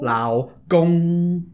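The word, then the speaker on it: 老公: Lao Gong.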